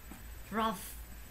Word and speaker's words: rough: Nói theo là cái từ này cũng có đôi H, GH như là nó đọc là F. Rough, rough, rough, rough, rough.